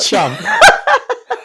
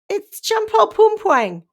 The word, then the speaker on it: Champol Pumpuang: Chump. I knew you'd laugh at my pronunciation. It's Champol Pumpuang.